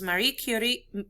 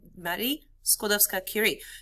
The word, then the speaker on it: Marie Curie: to practice this for me okay this is marie curie marie curie here we go everybody repeat after me here